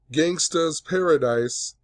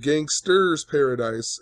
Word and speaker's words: Gangsta's Paradise: a Jeopardy contestant and how he mispronounced Coolio's song Gangsta's Paradise, and he said Gangster's Paradise, and it cost him $3,200.